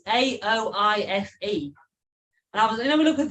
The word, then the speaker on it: Aoife: It's Aoife. And I was look and think, how the shit do you say that? Aoife. Aoife.